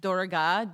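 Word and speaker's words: Durga: the podcast but it um it's om is pronounced like d u u m correct the name of the goddess is dorga d u r g a dorg is the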